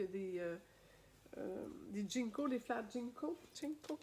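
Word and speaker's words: ginkgo: Jinko, on dit en JN, Jinko, CO, ça se prononce comme ça, j'espère.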